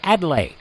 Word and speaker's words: Adlai: Louis, head of the International Mark Twain Society, the correct pronunciation is Adlai, although to put it mildly, I've been called many things.